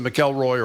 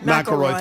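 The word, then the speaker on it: McIlroy: Here's the moment that Mckelroy or however you pronounce his name. Mroy. Mroy, thank you.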